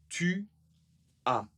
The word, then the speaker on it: tu as: La deuxième, tu as. Tu as. Première petite difficulté, mais pas de nouveauté. Nous ne prononçons pas le S. Le S n'est pas prononcé ici.